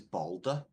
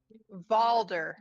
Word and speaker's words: Valder: take him I'm sorry his name is balder valder with a V does he have a gate no it's vder with a V like Victory oh balba right oh Bala sorry can you spell it it's v a l d e r oh Vault right okay